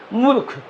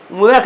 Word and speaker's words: मूर्ख: पर पड़ेगा उसके पहले उसका उच्चारण आधा र के होगा मतलब उसको जल्दी बोलना र को जल्दी बोलना हैसे मूर्ख मूरख नहीं बोलेंगे मूर्ख बोलेंगे मुह के बाद बोलेंगे